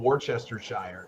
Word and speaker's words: Worcestershire: ago i call it warchester shire you know because that's that's what it looks like so you know worchester shire sauce not worcester worcestershire doesn't even phonetically match up with the letters you used why would you call